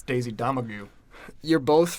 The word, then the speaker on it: Domergue: I definitely wrote the last name wrong, but it's Daisy Domingray. It's Daisy Domergue.